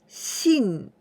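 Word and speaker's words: 信: digest this Kandi means to believe and we pronounce Shin the stroke order is very easy at first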